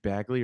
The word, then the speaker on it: Bagley: Are you going to pronounce his name Bagley or Begley? I hear a lot of Begleys out there. Why would it be those people Begley? from It's New York?